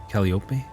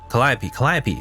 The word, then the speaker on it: Calliope: Is that how you say it? Calliope? No, Calliope. That's what it is.